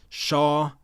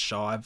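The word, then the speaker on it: Chau: I will give them Shaw Smith Wade I'm hopefully that's how you pronounce it it's a tough name c h Au I think it's Shaw I've heard announcers say it so we'll go with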